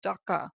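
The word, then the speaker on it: duḥkha: that means suffering and it is dhaka do you H kha I believe that's how it's pronounced but it's an important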